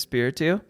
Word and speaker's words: Espiritu: this audio we're here uh with Derek is spiritu right how do we say it like I